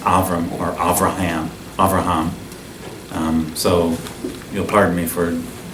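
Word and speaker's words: אברהם: Rome and the Hebrew of his name is pronounced offer amor Rihan avraham so you'll pardon me for you've been going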